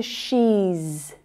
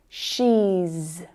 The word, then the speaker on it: she's: Now compare that to she's, she's. Now vowel sounds are all voiced sounds, so the sound that follows is z, she's, she's.